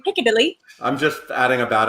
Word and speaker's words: Piccadilly: So Piccadilly. Did I say it correctly? Piccadilly.